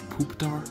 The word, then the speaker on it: Pupitar: I can never pronounce it. It's Pupitar.